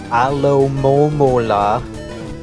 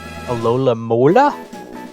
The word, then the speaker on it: Alomomola: Got ourselves our Alomomola, which I hear people pronounce many incorrect ways, like Alola Mola? That's not the letters.